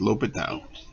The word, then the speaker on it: L'Hôpital: Spell it however you want, pronounce it however you want. L'Hôpital, L Hospital, or Amberlance. No, ambulance, no, it's L'Hôpital, but whatever.